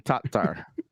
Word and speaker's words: Tattar: I am not saying T-A-R. I'm saying Tattar.